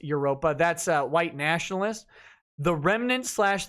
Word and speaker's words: Evropa: skinhead social club identity evropa i'm sure it's pronounced europa that's a white nationalist